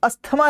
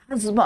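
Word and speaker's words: asthma: ये रहा हम अस्थमा नहीं होता। एजमा होता है। एजमा एज्मा वो बीमारी होती है ना। सांस में तेरी सांस मिली तो मुझे सांस आई। अब मुझे सांस नहीं आई वो वाली सांस रुक जाती है दमा दम आ ठीक है तो दैट्स कॉल्ड एज्मा नॉट अस्थमा और मच्छर के काटने से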